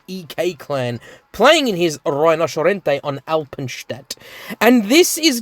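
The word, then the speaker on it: Rinoceronte: want to pronounce it, it's pronounced Rhinocerente, okay?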